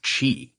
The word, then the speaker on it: qi: But the most common is chi. Ah, yes, spelled with a Q-I or C-H-I.